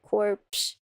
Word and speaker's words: corpse: depends when you are I pronounce the PS at the end oh horse core corpse another one stolen from